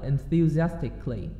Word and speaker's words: enthusiastically: Khi mà mình đọc, mình đừng có đọc là cồ ly nha, mình đọc là enthusiastically.